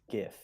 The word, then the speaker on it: GIF: I saw of um good job pronouncing it correctly thank you that's an old yeah exactly I've probably upset some people but the original Creator said it's GIF shut up so anyway